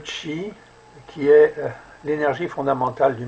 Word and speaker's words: qi: monde dans son entier c'est le cheat ça s'écrit QI le tchi le chi qui est l'énergie fondamentale